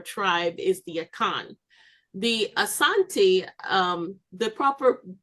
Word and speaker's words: Asante: The Asante, the proper pronunciation is Asante, not Ashanti.